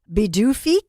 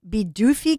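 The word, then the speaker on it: Pituffik: I claim, you know, I'm behalf Scandinavian, but it's the P is pronounced as a B.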